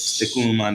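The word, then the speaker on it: Tecún Umán: the border in, I don't know how to pronounce that. The Guatemalan border is, Tecunuman, that's for Guatemala.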